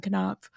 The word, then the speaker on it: Knopf: And Jena, I'm glad you read that instead of me, because I did not know that the K in Knopf was not silent.